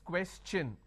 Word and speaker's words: question: When I have the word question, the tion becomes ch, n. So it becomes question. Alright?